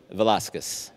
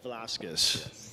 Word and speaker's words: Velazquez: say your last name so everybody gets that Velasquez Velasquez cool Diego velázquez might be the most famous